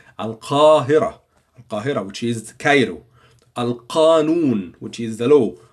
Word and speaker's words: القانون: القانون, which is the law. In these words, we have to pronounce the qaf. So say it with me. القانون.